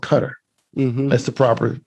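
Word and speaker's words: Qatar: is is a capital cutter i used to pronounce that q-a-t-a-r i call it guitar but it's actually called cutter that's the proper pronunciation all right so what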